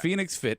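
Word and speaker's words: FNX Fit: fit Phoenix fit it's spelled FNX but it's pronounced yes yes Phoenix fit FF in x-fi t-dot-com and if you are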